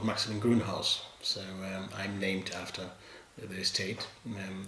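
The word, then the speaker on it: Maximin Grünhaus: maxilin von trugod and this stage is called maximum greenhouse so i'm named after the estate and they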